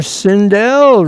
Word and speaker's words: Sindel: Sindell rhymes with hell.